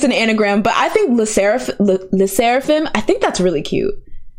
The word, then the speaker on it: Sserafim: It's Sserafim.